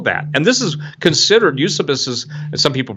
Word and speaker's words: Eusebius: could he know that and this is considered use abysus and some people pronounce Eusebius but use abyss is one of the most